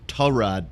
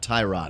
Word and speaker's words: Tyrod: I think it was agent said his name is pronounced tall rod not tie rod I swear I saw